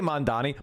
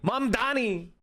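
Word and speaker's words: Mamdani: M Donnie, did I say Mandani? M Donnie, you got to say it right.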